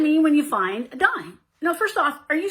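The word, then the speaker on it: disme: Well, way back in 1792 in the Coinage Act, it was actually spelled D-I-S-M-E, but pronounced dime.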